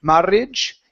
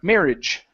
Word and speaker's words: marriage: remember in in English even though there might be two RS we don't pronounce two RS so instead of marage it's m marriage okay try married married